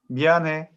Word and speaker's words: 미안해: So you don't pronounce he? 미안해. Okay. Like that 미안해.